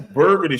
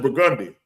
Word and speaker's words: Burgundy: And if you fucking, you're gonna go, that's Burgundy Street. No, bitch, that's Burgundy. That's what we gonna tell you. So, man, how they get to Burgundy Street? Bitch, that's Burgundy.